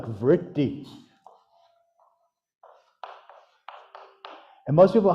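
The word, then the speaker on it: vṛtti: Well, the R with a dot at the bottom is actually a vowel. It's erotic slur. It's vritti.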